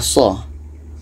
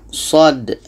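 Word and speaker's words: صٓ: dengan ejaan huruf hijaiyah ini bukan dibaca Shah mengikut ejaan huruf hijaiyah ini bacanya short Alif Dal Sod jadi di sini ada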